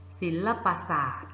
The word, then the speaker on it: ศิลปศาสตร์: นี้ เขียน คำ อ่าน ได้ อย่าง ไร เอ่ย ศิลปศาสตร์ สาขา ศิลปศาสตร์ ตัว การันต์ คือ คือ ตัว อะไร